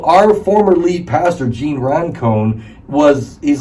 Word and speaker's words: Roncone: You know, our former lead pastor, Gene Roncone, he's like my podcast hero.